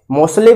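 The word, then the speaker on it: Moseley: उनको कहा जाता है, क्योंकि स्पेलिंग में यस लिखते थे, यस का सा और ज दोनों होता था, तो कहीं किसी किसी बुक में मोजले लिखा होता, किसी किसी में मोसले लिखा होता, तो आपको इस पे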